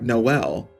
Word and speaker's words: Noel: far was JK MN it's pronounced like Noel because they took the L out of that section of the alphabet so there's literally no l I'm impressed that someone